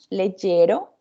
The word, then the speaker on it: leggero: Recordamos ayer que vimos la palabra leggero, ¿sí? Que tiene el acento en la segunda E, ¿sí?